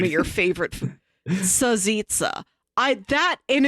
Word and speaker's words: salsiccia: Salsiccia. And it's spelled like salsita, but it is exclusively pronounced Sazitza.